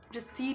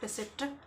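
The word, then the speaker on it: receipt: होता है रिसीप्ट नहीं होता रिसी होता है रिसीप्ट नहीं होता रिसी होता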